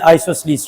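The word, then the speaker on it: isosceles: Most of the students they think कि आइसोसेलस, आइसोसलस। तो ये मैंने Google लिया है उस्ताद जी से। ये मैं प्ले करता हूं। आइसोसलीस आइसोसलीस आइसोसलीस आइसोसलस ठीक है तो आपने प्रोनाउंसिएशन में प्रॉब्लम नहीं लेनी।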